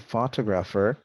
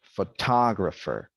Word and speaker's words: photographer: Not photographer, but photographer.